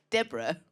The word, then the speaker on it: Deborah: way here, realised that your name, Deborah, rhymes with zebra.